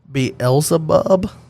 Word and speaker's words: Beelzebub: It is Beelzebub, I believe is the way that you would pronounce that.